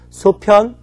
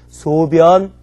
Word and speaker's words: 소변: 편자는 편할 편일 때는 편리, 편한, 불편이라고 읽지만 이것이 똥오줌 변일 때는 소편, 대편, 편소가 아니라 소변, 대변, 변소로 읽어야 한다는 거 꼭 기억하시기 바랍니다.